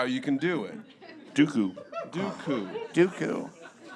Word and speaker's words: Dooku: you can do it Dooku Dooku Dooku because it Rhymes it rhymes with poo poo and it sounds like